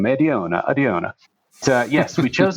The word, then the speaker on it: Adiona: I also always recommend people to just pronounce it like they have a fake Italian accent. It usually gets people to uh to have some fun with the name Adiona.